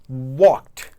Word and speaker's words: walked: Esse ed, ele sempre vai ser muito sutil. E você vai evitar falar o e do ed.